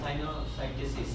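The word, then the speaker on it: sinusitis: related না যেটা সাইনোসাইটিস এই উচ্চারণটা কি সাইনোসাইটি নাকি সাইনোসাইটিসিস এবং সাইনোসাইটিস লাস্টে হচ্ছে আইটি এস আছে আই টি এস এইটা থাকলে আমরা ইনফ্লামেশন বলব সাইনো এস আই টি এস সাইনোসাইটিস আচ্ছা সাইনোসাইটিসটা কেন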